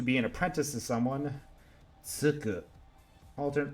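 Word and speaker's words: 就く: Tsuku. Alternate pronunciations are shu or ju. Tsuku is to commence something, to start it, to be an apprentice to someone else, or to take it.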